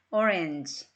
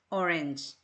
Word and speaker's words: orange: 얘가 왼발음이에요 n frand orange orange 우리는 주로 오렌지를 읽죠 그런데 정확한 것으로 하자 싶으면 오렌지라기보다는 오린지가 맞겠죠 그런데 턱을 내리는 것에